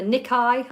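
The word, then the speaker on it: Nikkei: fell 3.4 percent okay so they've got the nikai I know that that's how it's pronounced I'm not yeah the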